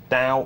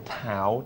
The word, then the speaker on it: Dao: um isn't that exciting dao or tao depending on your pronunciation uh that will be